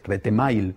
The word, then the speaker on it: Retemail: Retemail, pronunciado en correcto castellano.